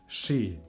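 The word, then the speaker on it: shi: It's the sh. So this is exactly the same as in English. And we have the example word she.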